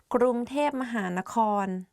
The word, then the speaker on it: กรุงเทพมหานคร: pronounce like that กรุงเทพ but a longer name is กรุงเทพมหานคร But do you know that the real name of Bangkok is actually the longest city name in the world?